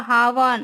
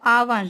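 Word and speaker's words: hour: अब यहाँ देखिए एच से नहीं हो रहा, हावन, हम ऐसा नहीं पढ़ रहे हैं, क्या पढ़ रहे हैं, ओ से पढ़ रहे हैं, ओ से उच्चारण हो रहा है इसका ना, ये क्या है, साइलेंट है एच, तो आवन, तो इसलिए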